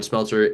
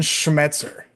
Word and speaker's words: Schmetzer: They're, like Jacob mentioned, their head coach, Ryan Smeltzer, is amazing. You butchered his name. Is Brian? Brian Brian Schmetzer. I thought it was Schmeltzer.